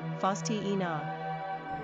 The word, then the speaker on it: Faustina: Pronunciation, Faustina.